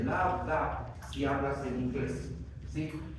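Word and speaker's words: lambda: Si quieres tomar los sonidos cardíacos, aquí están, por ejemplo, el o el D, ya no se dice lu, se dice labda.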